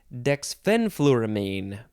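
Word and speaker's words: dexfenfluramine: next word Dex fenfluramine the second syllable is emphasized dexphen fluoramine dexphen fluoramine I'd like to say that word dexfen fluoramine this one is a noun from 1987.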